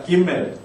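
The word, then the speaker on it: גימל: 그렇지만이 점이 찍혀 있을 때의 베트와 점이 없을 때의 베트가 발음이 지금도 다르다는 것은 어 기억을 하실 필요가 있겠습니다. 세 번째 따라해 봅시다. 김멜 김멜 김멜 김멜 자 앞에 있었던 두 자음들과는 달리 요거는 세로로 반만 차지하는 거죠.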